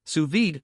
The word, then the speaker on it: sous vide: If you're new to this cooking technique, sous vide, pronounced sous vide, involves cooking food in a temperature-controlled water bath.